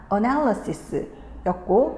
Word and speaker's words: analysis: 이렇게 발음을 하게 되는데, 명사가 되었을 때는 A가 이렇게 슈아 발음으로 약간 약해져서 analysis가 된단 말이지.